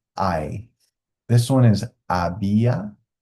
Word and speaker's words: había: I this one is abia abia and then ubo silent h in Spanish at the beginning of a word okay so this is